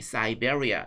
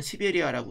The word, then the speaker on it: Siberia: 이렇게 우리가 이해하면 되겠습니다 시베리아 영어 표기로는 siberia 사이베리아 이렇게 있죠 그런데 참고로 우리나라에서는 외국어 외국 지명 외국인명토기는 현지 발음을 따른다 이렇게 되기 때문에 우리나라에서는 시베리아라고 표기합니다 러시아 사람들은 시베리아라고 읽거든요 근데 영어권에서는 사이베리아 이렇게 발음하죠 사족이었고요 그다음 및 아일랜드이